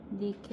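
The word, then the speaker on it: Νίκη: 니케인데 영어로 발음이 안 되니까 나이키라고 한 거야.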